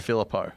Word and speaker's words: Filippo: Someone was saying, how do we It's pronounce Filippo. it? Filippo.